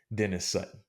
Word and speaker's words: Dennis-Sutton: And I always look up pronunciations when I'm researching these guys. So it's actually Dennis-Sutton.